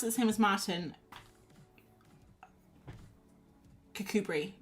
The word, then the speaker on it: Kirkcudbright: Um Kirkcudbright. Oh, it is spelled like that.